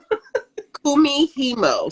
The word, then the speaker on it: Kumihimo: And she was doing a fiber art called Kumihimo. Who is that? Is that Boondocks or Kumite, like the martial art? Kumihimo. So it's spelled Kumihimo.